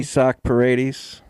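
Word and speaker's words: Isaac Paredes: Isak Paredes.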